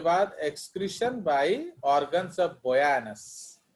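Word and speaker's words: Bojanus: Excretion bye ऑर्गन्स ऑफ बोजानस, actually इसको बोयानस pronounce किया जाता है।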